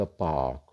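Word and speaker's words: park: Almost are जो होता है ना, बहुत कम आवाज़ आर की निकालता है, आर नहीं आएगी साउंड इसकी, आ, या बिल्कुल साइलेंट हो जाएगा, ओ बोला जाएगा इसको।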